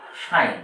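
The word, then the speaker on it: sign: একই রকমভাবে এস আই জি এন সাইন এর উচ্চারণ হচ্ছে সাইন তাহলে জিটা কেন আছে তাহলে আজকের আলোচনা আমাদের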